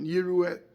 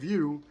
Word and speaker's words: יראו: So the Radak points out on the pasuk of Yirahu, Ha'alef Nocha, V'ilu ha'yinira ha'yala mishkal Shimru shenikra Kadosh, that he says the Aleph is Nocha, the Aleph is silent, the Aleph is not pronounced.